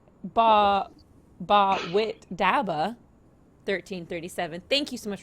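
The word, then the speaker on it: Bawitdaba: Hype in the chat says, Ba Wit Daba. 1337. Thank you so much for the $100. Excuse me, that's pronounced ba wita ba.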